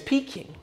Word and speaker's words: Peking: in your mouth fun fact if you google peeking duck and it explains the pronunciation need i say more it's peaking just like me all things considered what are